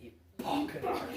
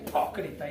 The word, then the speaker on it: hipócrita: Y de hecho, cuando usted le dice hipócrita a alguien, usted no lo dice hipócrita. Usted le pone un acento en la P, hipócrita. Sí, en serio. ¿Cómo es? Usted no dice hipocresito. No. Es hipócrita.